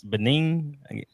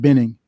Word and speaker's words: Benning: toface training at Fort I guess it's Benin Ben Georgia I went I went how you pronounce it Larry Fort Benning Benning Benning okay Georgia on physical fitness